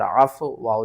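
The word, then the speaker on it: عَفَوْا: طرف۔ یہاں پر دیکھیں زیادہ تر لوگ کنفیوز ہوتے ہیں کہ واؤ کو افوا پڑھنا ہے یا ہم نے اس واؤ کو فا کے ساتھ ملانا ہے یا کس طرح پڑھنا ہے۔ ہجے کرتے ہیں، قاف پیش کو، لام لام زیر لل، قلل، عین کو ہم نے فا کے ساتھ ملانا ہے، عین فا زبر عف، واو زبر وا، عفوا، لیکن آپ اس کو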